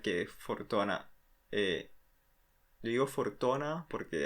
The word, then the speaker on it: Fortuna: Fortuna, eh, yo digo Fortuna porque así es como normalmente se pronunciaría en japonés, pero bueno, Fortuna como le guste más.